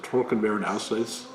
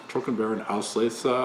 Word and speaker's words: Trockenbeerenauslese: Another one is, again in German, I'll probably mutilate this, but Trockenbeeren Auslese. Trockenbeeren Auslese, I think it is pronounced, something like that.